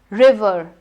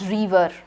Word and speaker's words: river: River and not river. River.